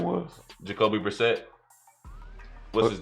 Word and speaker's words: Brissett: Jacoby Brissett. What's his name. Jacoby. Brisket.